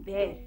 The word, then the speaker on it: bear: हाँ बिल्कुल सही, BEAR, स्पेलिंग तो होती है BEAR लेकिन इसको कहते हैं बेर।